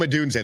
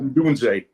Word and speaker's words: Odunze: Ndozi? Rome Odunze, the receiver. Yep. Odunze.